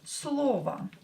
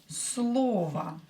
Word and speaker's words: слово: И последнее слово, and the last word will be слово. Слово. Same here, O is not stressed, so pronounce it as A.